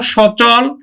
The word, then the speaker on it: সচল: র অমর অমর হবে তারপর দেখ সচল এখানে দন্তস হবে না উচ্চারণ তালি স হবে স চল সচল তারপরে অচল অ চলস